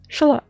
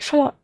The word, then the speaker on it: Xolotl: You do pronounce that shalot. It's like shalot. It's like with a sh sound.